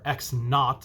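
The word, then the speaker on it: x₀: with a zero represents the starting position or x naught is how it's pronounced or you might see it with a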